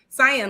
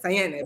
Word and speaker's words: Cyan: So it's cyan, like the color, but I said like Cyanne because that's how in my mind you would pronounce it in Spanish.